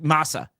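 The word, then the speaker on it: Mahsa: S thumbs up am I saying it right Masa yeah so this woman who was beaten to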